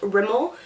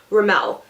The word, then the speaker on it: Rimmel: I think it's pron pronounced Rimmel, but I don't know like in Canada or at least me and my friends, a bunch of people that I know call it RML.